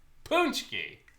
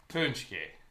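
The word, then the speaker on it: paczki: and are not polish it's spelled p a c z k i punchki that's an amazing spelling punki not look like it says punki well it's polish so um so yeah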